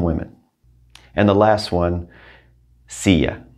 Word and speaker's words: silla: and the last one sia remember l's together two l's mean a y sia la silla the